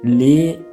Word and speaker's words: lehren: Mais lehren, c'est-à-dire enseigner, parce qu'à ce niveau, c'est deux consonnes bien sûr, mais c'est le H qui vient premièrement. Donc une fois que le H vient après le E, il faut prononcer le E long.